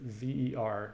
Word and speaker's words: Ver: beer is a bigot I pronounce it V er Roger Burke he was